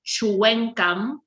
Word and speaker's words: Tchouenkam: So the real spelling is supposed to be Tchouenkam. So it's supposed to be Chuenkam.